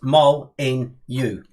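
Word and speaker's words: Molineux: says on the sheet pronounce mol in you right that's got literally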